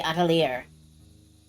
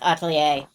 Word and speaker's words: Atelier: No, it's pronounced Atelier. I believe.